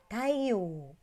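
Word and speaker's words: たいよう: Kalau Anda perhatikan di sini ada bunyi panjang yo. Nah, kalau Anda tidak membiasakan diri, maka Anda pasti membacanya yo. Padahal ini adalah bentuk panjang yaitu tayo. Dibacanya panjang. Tayo.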